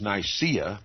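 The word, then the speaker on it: Nicaea: the First Council of nice that is Nia as some pronounce it dictated the most material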